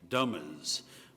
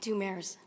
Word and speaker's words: Dumers: Our next candidate is a Dummers, who is applying for one of the at-large positions.